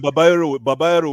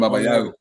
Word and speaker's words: Babayaro: that time Babanyaro was playing. Babanyaro was playing for us. Ah, I will Wait, never who? forget Who? that. Babanyaro, Celestin Celestin Babayaro.